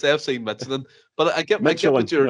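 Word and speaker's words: FC Midtjylland: There's a lot of J's in there. I thought I was the worst in this show. That by far tops it. It's FC Michelin.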